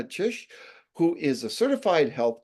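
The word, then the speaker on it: Czyż: today on Calgary's podcast joining me is Magdalena chish who is a certified health coach and a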